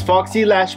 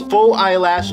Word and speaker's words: Foxy Lash: And sabi dito, Dear Vince, Foxy Lash by Glamskin Manila is the newest product in our cosmetic lineup. It can be both pronounced as faux eyelash or foxy lash, whichever you like.